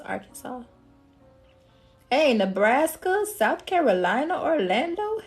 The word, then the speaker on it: Arkansas: he was like Hey you ever been to Arkansas I said it's pronounced Arkansas I said I know that can be a bit confusing but I said don't tell nobody else that okay it's pronounced Arkansas hey Nebraska South Carolina Orlando hey hello beautiful